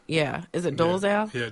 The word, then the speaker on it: Dolezal: this lady's name was it Rachel hold on dozer yeah is it doles out yeah Dolezal okay you heard about her yes yes um